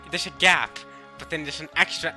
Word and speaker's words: Gaap: so kind of like you pronounce it like garb from one piece just leave the r out garb god like it's like there's a gap but then there's an